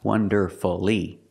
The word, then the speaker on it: wonderfully: is three syllables but if I put ly after it then it's wonderfully see it changes to three syllables it's not wonderfully we don't make it for when you put Le after these words so when you see f u l l y don't pronounce that U shorten the word and make it three syllables like masterfully beautifully now